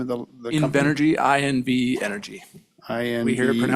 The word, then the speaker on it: Invenergy: Invenergy, I-N-V Energy. I-N-V We hear it pronounced all Energy.